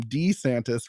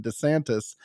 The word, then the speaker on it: DeSantis: change his name again he's demanding that people call him D santis rather than DeSantis actually I like Doug